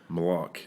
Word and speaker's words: Malaugh: or five most common most common would be Mala it's like people start the second C and then just give up they're afraid they're